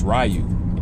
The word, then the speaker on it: Ryu: they if they if they mistakenly said rayu well actually I I wouldn't even consider that a mistake because that's just how we've been pronouncing his name ever since you know we start playing Street Fighter so um yeah it's rayu in America it's rayu now if you're in Japan you speak in Japanese then you change it